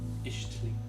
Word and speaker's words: Ixtli: Ishtli. Ishtli? Ishtli. I don't know, maybe I'll go with Ishtli. No, can't pronounce it. Ishtli. You just be Ish. Spelled IX. Let's go with it.